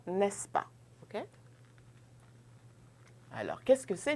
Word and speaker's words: n'est-ce pas: Donc, exemple, tu parles français, n'est-ce pas?